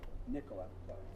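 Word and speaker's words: Nikola: Nicola. Emphasis on the first syllable. It's like Nicola.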